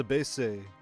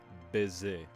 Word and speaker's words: baiser: On va se baisser sous les étoiles. Or sous le ciel étoilé. On va se baisser. Or, it's actually supposed to be pronounced baiser.